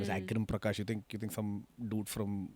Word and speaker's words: Agrim Prakash: And I've worked front desk at a hotel, and it's really fun because first of all, nobody can pronounce my name, right? My name is Mm. Agrim Prakash.